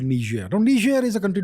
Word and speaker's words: Niger: So recently, there was a coup in a place called Niger. Now, Niger is a country nobody has heard of. It's called, the spelling is Niger. It's called Niger. That's a French pronunciation.